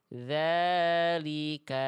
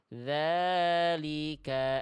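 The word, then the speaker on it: ذٰلِكَ: Jadi sekali lagi bacaannya tidak boleh dibaca dzalika adna tapi dalika adna.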